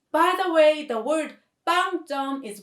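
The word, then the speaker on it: 빵점: means zero points by the way the word bang jong is pronounced the same as bang bread that we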